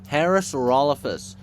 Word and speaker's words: Parasaurolophus: How did you even try to correct yourself there? Parasaurolophus. Anything besides that stupid mispronunciation.